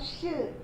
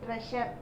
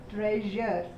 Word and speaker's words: treasure: And then you have treasure, that is J. Okay, it is not sh, treasure. Okay, how do you pronounce it? You pronounce it as treasure.